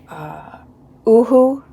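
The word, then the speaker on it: UHU: I know there's Oohoo. According to their website, that's how it's pronounced. Like boohoo, only no B.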